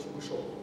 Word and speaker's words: Чебышёв: Но, поскольку это только пишется, то нет, то вот его иногда Чебышев, но он именно Чебышев.